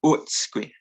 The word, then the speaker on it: utsqui: So it's not, I mean, you could get away with pronouncing it as oo, like utsqui, but utsqui is kind of the main pronunciation that I know, utsqui.